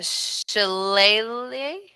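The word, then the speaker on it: shillelagh: use my bonus action to cast uh the shillelier should I say that right yes yes you did your your pronunciation is Celtic approved all right perfect and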